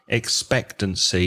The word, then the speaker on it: expectancy: you say the word expectancy you misplace the stress on expectancy it has four syllables expect to see and you need to place the stress on the second syllable so expectancy the Dada